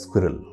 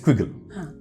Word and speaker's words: squiggle: And the interesting part is most of my participants, they do not pronounce squiggle well. So they end up pronouncing it as squirrel. Acha. It's swiggle, huh? It's squiggle.